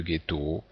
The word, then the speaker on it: ghetto: exemple le T le ghetto le H d'ailleurs qui ici permet d'avoir la prononciation gu du G adérant silhouette ménir rhume